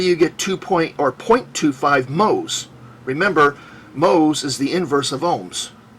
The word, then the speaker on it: mhos: Remember, mhos is the inverse of ohms. It's spelled in reverse and is pronounced in reverse.